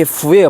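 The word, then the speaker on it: 蝠: 이 박쥐가 우리가 복복자를 보면은요 한자로 복복자가 중국어로 fu예요. 발음이 F 발음 fu인데 박쥐가 간자치로 쓰면은 그것도 똑같이 fu예요. 발음이.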